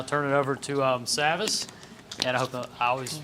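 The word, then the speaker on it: Savvas: thank you Ryan and you actually uh pronounced it correct Savage Travis think of it that way but I'm ty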